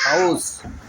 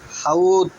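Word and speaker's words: حوض: আমি এখানে একটি শব্দ উচ্চারণ করছি হাউস, কিন্তু পৃথিবীর 1999 জন হাউসকে আরবি উচ্চারণে বলে হাউদ, যা কোরআন হাদিসের উচ্চারণের বিপরীত হচ্ছে। সেটির সঠিক উচ্চারণ হবে হাউস।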